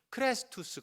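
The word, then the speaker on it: Χριστός: 그리스도 그리스도 할 때에 그리스도의 원래 헬라어 발음이 클래스 투 스 거든요 그런데 그리스도 그리스도의 이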